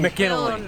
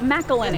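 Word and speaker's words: McIlhenny: Edmund McKinley. Edmund McKinley. How do you say it? Oh, McElhenney.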